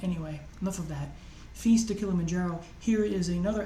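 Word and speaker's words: Filles: Speaking of Feast to Kilimanjaro, I don't know why some people pronounce it Files. It's French, it's Feast, the L's are silent. Anyway, enough of that. Feast to Kilimanjaro.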